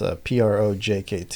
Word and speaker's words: PROJKT: If somebody wants to look us up, it's PROJKT. It's spelled a little weird.